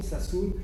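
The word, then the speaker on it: Sassoon: s'appelle Enrico sassun je vous donne son nom Sassoun ça s'écrit sa a 2 S 2 O m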